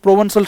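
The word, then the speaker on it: Provençal: तो ऐसे काश मैं भी करूं, उस प्रोवेंसल सॉन्ग को गाऊं, प्रोवेंसल प्रोवेंसॉल मैं बता रहा था pronunciation, this is प्रोवेंसॉल song and sunburn birth.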